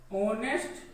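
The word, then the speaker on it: honest: तो इसका उच्चारण किया जाए तो इसका उच्चारण अगर हम कर रहे हैं तो हो रहा है ऑनेस्ट मैन।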